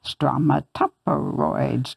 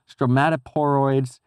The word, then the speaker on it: stromatoporoids: back to see it we do a little chant stromatoporoids from a tuperoid which which helps them and helps me to pronounce it those were evidently